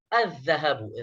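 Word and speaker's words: الذهب: तो यहां पर भी देखिए अलिफ लाम के बाद जाल आ रहा है और जाल हरूफ शमसिया में से है, तो लिहाजा उस पर तशदीद लगाएंगे और लाम को साइलेंट पढ़ेंगे, तो क्या होगा, अज़्ज़हबु।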